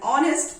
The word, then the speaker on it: honest: My mother is an honest person. Is an honest person? Here, H is a consonant, but we are using and before honest. Again, because of sound.